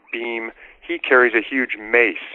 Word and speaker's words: Bhima: It's spelled B-H-I-M-A. I think they usually drop the A off on his name, Bhima or Beam.